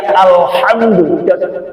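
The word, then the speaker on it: الحمد: engak pakai TV ya alhamdu sampai di baca alhamdu banyak l alhamdu kalau alhamdu itu pakai k ya ini al ha al ha ha itu ada binatang yang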